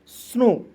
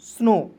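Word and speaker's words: snow: एन का न और ओ डब्ल्यू है तो इसका उच्चारण ओ के रूप में करेंगे हो जाएगा स्नो एस एन ओ डब्ल्यू स्नो एस ओ सी के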